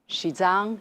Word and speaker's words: Xizang: known abroad as Tibet shizang is the pronunciation of the Chinese name of the region almost exactly 72 years ago on May the 23rd 1951.